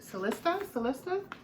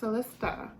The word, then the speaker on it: Celesta: This is, I think it's, I'm saying it right, Celestia? There's no I. Celesta. Oh, it's not. Oh, okay. Yeah, Celesta.